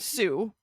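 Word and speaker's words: Sioux: i o u x sound alike but they are not related both do come from French hence all of the letters we don't pronounce uh the word for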